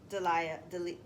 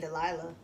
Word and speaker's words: Delia: Delia? Delia. I was saying Delilah, but it's not Delilah.